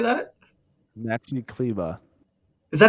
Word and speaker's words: Kleber: No, it's Kleba.